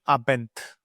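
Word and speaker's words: Abend: coming towards this one whenever you are getting n d combination the sound would be like th guten abent so over here guten knocked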